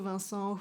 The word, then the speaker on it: Vincent: How do you say it in English actually? In French it's Vincent. So I will pronounce it the French way. You were going to Vincent, who was like just,